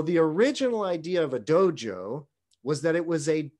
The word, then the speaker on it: dojo: you to know that the way that these two characters are pronounced in japanese is dojo the idea of a